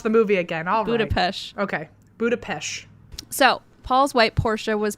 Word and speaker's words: Budapest: to go watch the movie again budapest okay budapesh so paul's white porsche was parked in the